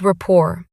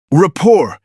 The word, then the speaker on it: rapport: These small questions build rapport. Rapport? That's a fancy word. How do you spell it? It's r a p o r t. The t is silent.